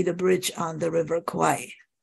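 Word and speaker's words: Kwai: Bridge on the River Kauai you should pronounce it as koi okay yeah probably by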